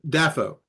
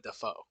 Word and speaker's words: Dafoe: was younger okay and he pronounced his name dafo Am daffo Willem daffo okay instead of Defoe sure but I I